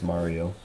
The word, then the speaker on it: Mario: No, it's just Mario still. Mario. They had 2 R's in it before. Mario. I know, that's the thing. Everybody thinks you pronounce it different, but you don't. It's still Mario.